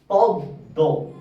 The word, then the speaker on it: পদ্ম: হবে দীপ্ত হবে যেমন পদ্দ দ এর উচ্চারণ দুবার হচ্ছে দ এর উচ্চারণ দুবার